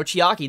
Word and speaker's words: Chiaki: couple of episodes back mono or you know Chiaki that's how you pronounce her name this is the younger sister